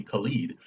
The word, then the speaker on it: Khalid: or anything like that, just they called me Khalid. And slowly I just got used to it, and I just prefer that pronunciation now.